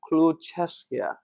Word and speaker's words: Kluchevskaia: I saw your tape, so it's Kluchevskaia. Almost. Studio audience, I'm sorry. Almost. How do you say it? Kluchevskaia. Oh, yeah. I'm adding some extra accent. I've never been to Russia. Was it? Kluchevskaia. Better. We'll work on it.